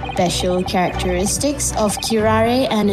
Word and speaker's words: curare: Special characteristics of curare and its effects on human subjects. Interesting. Curare? What's that? I've never heard that word before. Yeah, I'm actually don't know what curare means.